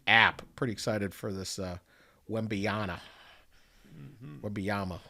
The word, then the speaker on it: Wembanyama: Pretty excited for this Wembanyama. Wembanyama. How do you say it? Wembanyama.